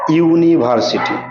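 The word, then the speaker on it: university: একটা উদাহরণ দেই সব থেকে ভালো হবে দেখো ইউনিভার্সিটি ঠিক আছে ইউনিভার্সিটি ঠিক আছে তাহলে ইউ এর উচ্চারণ কি হয়েছে ইউনি ইউ চলে আসছে সেজন্য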